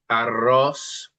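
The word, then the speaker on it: arroz: Aros is rice. Let's try that with the double R curl.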